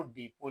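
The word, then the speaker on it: depot: तो पहला स्पेलिंग मैं जो लिख रहा हूँ, जैसे मान लीजिए आपको डीपो लिखना है, तो डीपो का डीपीओ आपको देखने से लगता है, लेकिन नहीं, इसमें टी साइलेंट रहता है, ठीक है ना।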